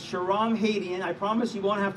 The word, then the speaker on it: Shahram Hadian: will you please remember my name it's Sharon Haitian I promise you won't have to spell it but I am compelled to run for